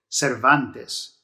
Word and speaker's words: Cervantes: miguel okay and then the second name is cervantes that one does end with a vowel in rs so you stress this second to last there are the penultimate syllables so cervantes cervantes so that's just a couple